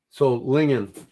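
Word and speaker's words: Solingen: So Lingen, too many people mispronounce it.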